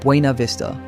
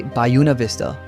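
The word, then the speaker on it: Buena Vista: And no, it's not Bua Vista. Locals say Bayuna Vista.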